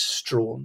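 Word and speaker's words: Strahan: called William stra um for a long time I didn't know how to pronounce his name but I've been assured it is Strawn so we'll go with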